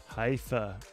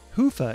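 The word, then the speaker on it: Hyvä: to Commerce is sponsored by hia or as the Europeans say Hua or the right way to say it Hua is rapidly becoming the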